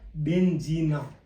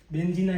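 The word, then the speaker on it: benzina: Plus जी + न इसका अर्थ हो गया बेंजीना बेंजीना इटली में किसको बोलते हैं पेंट्रोल को बेंजीना ठीक है और फिर बी आई से हम लोग कैसे बनाएंगे?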